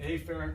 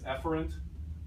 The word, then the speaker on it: afferent: Again, I overpronounce this. A lot of people pronounce both of them as efferent, the A and the E version of the word, and that's okay. That's actually, I believe, an also acceptable pronunciation, but it's really hard to tell what you mean when they both sound exactly the same.